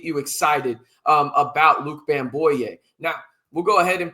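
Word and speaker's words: Bamgboye: Bamboo. The G is silent. There you go. Is entering the transfer portal. He is a former four-star recruit. Is Bamboo.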